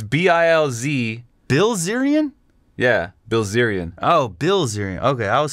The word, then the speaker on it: Bilzerian: There's nothing funner than trying to hear him pronounce words. It's damn funny. Bilzerian. I believe it's B-I-L-Z. Bilzerian? Yeah, Bilzerian. Oh, Bilzerian. Okay, I was saying Brazilian.